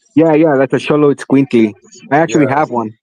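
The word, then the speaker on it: Xoloitzcuintli: It's like Cholo or something like that, right? yeah, that's a Sholo Squinkly.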